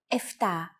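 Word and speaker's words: εφτά: standard pronunciation for numbers sometimes though especially in casual conversation greeks also use efta instead of epta instead of octo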